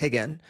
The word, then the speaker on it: Rigan: Portuguese, when the R is at the beginning of the word, it's pronounced H. That's why you'll see it written as Royce or Rigan, but it's Royce and it's Rigan.